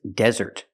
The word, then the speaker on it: desert: The difference is the stress. The first word is desert. The stress is on the first syllable.